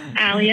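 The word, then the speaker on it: Alley: weird sorry Hi um my name is Ali as well I'm an Ali s but I spell it a l l e y um I think that's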